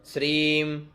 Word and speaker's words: श्रीं: ओम श्रीम ह्रीं श्रीं कमले कमलालये प्रसीद प्रसीद श्रीं ह्रीं श्रीं ओम महालक्ष्म्यै नमः, ठीक है। ओम श्रीं ह्रीं, ये उच्चारण करना है श्रीं दीर्घ, ह्रीं है के अंदर रहे बड़ी की मात्रा, तो ह्रीं श्रीं कमले